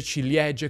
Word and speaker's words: ciliegie: E conosco la regola, se prima della C o della G c'è una vocale, si mette la I dopo. Ma mi sembra comunque un po' superflua, non si pronuncia.